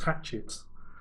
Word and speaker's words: Hachette: Oh, I thought it was doing a Hachette job. Exactly. Is it Hachette? It's Mrs. Bucket. Hachette. It'd be like a French pronunciation.